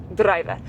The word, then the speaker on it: druiwe: So we are in druive harvest. Driver. It kind of sounds like the English word driver, but they just roll their D. Druive.